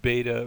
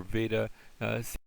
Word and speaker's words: beta: This has the same sound in B. I guess if you go to modern Greece, you'll hear the V sound, but beta or veda.